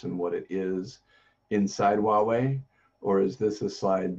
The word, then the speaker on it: Huawei: How do I pronounce the company name? Hawaii. Huawei. Huawei.